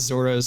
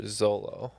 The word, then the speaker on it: Zoro: writing this game and the whole question about Zoro made me think of Ted lasso last month's